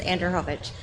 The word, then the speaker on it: Anderhovich: What is your last name? How do you say it? It's Anderhovich. Anderhovich.